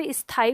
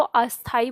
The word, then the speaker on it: स्थाई: तो अब अगर आप पूर्वी दिशा से आते हैं, तो अगर आप स्थाई को अस्थाई बोलते हैं तो आपको आज से बंद करना है।